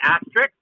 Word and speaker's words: asterisk: An asterisk? Asterisk or asterisk? Asterisk. Asterisk. I think it's asterisk, isn't it? Isn't it R-I-X at the end? Isn't it Rick? It's spelled with a K. It's R-I-S-K. It's asterisk.